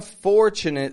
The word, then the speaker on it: fortunate: Notice the ch is in that weak part of the word. The strong part of the word is the first syllable, the beginning.